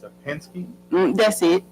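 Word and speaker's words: Penske: they are trying to catch a pink a pinks, how you pronounce it, box truck. They're dumping tires behind an abandoned house um where Lahi Cooper lives. It's across the street. It's a Pensky. That's it. Pinsky truck.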